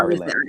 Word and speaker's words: Ari Lennox: I'm gonna pronounce Ari, it. Ari. Ari Ari. Lennox.